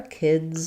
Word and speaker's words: kids: the kids are here, my I vowel before the D is going to be a little bit longer in kid than it is in kit. The kids are here. So you will hear that D sound, kids are here.